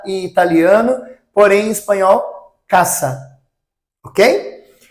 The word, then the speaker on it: casa: Então, em espanhol nós não falamos casa, nós falamos caça. O som do s é um som de cidilha, tá? Então, casa em português, casa em italiano, porém em espanhol caça.